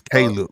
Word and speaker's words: Caleb: I'm from Missouri man I keep calling this boy khib because that's how we pronounce it's Caleb man Caleb um Caleb